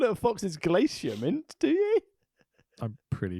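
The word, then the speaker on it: Glacier: You don't call it a fox's glacia mint, do you? I'm pretty sure that's how you meant to pronounce it. Oh, this is outrageous. G L A C I E R. Glacia.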